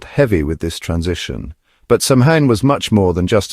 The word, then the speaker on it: Samhain: Pronounced Samhain, it marked the end of the harvest and the beginning of winter, the dark half of the year.